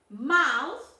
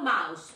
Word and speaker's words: mouth: Fur, bat, no boot, bat, tail, mouth, toes, no mouse. Because mouse is Mickey Mouse. This is mouth, con una Z al final.